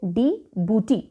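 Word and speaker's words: Djibouti: इसको हम कैसे पढ़ते हैं, डिबूटी, जे साइलेंट है और इसका कैपिटल इज डिबूटी सिटी, तो ये भी डायरेक्टली याद हो गया होगा।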